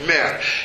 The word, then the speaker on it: Mer: It's called Mer. It's spelled M-E-R.